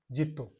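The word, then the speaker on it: zitto: इसी प्रकार से लिखा जाता है, आप लोगों ने इंग्लिश में देखा होगा, लेकिन इटली में उच्चारण अलग होता है, जेरो।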